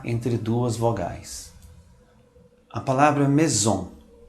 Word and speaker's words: maison: Quando o S está entre duas vogais, pronuncia-se como um Z. Observe a palavra heureuse, que significa feliz. Observe que esse S está entre duas vogais. A palavra maison, o S está entre duas vogais.